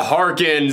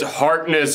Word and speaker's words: Harkness: been screwed at me it's not harkins it's harkness you idiot i don't